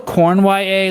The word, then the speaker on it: Cournoyer: Samuel Cornwye, let me, he spells his name Cournoyer. Cornwye.